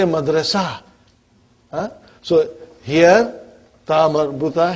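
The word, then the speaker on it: مدرسة: Madrasa tun. What will you say? Madrasa. Are you with me? What will you say? Madrasa. You did not pronounce ta marbuta, but you pronounce it as ha.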